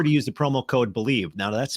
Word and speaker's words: BLEAV: Make sure to use the promo code BELIEVE. Now that's spelled BLEAV, BELIEVE, to receive your rewards.